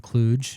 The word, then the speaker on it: Kluge: Speaking of people no one talk about, there's a guy named John Kluge.